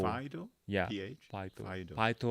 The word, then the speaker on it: phyto: Fido? Yeah, PH? phyto, Fido. phyto or phyto. How do you say it? PH would be F.